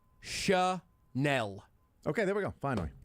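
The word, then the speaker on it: Chenal: Linebacker Leo, last name, says his last name is pronounced Chanel. Okay, there we go. Finally. Quote, small town, it's a little Chanel. easier to have people get the pronunciation correct. Chanel says with a smile, when you go on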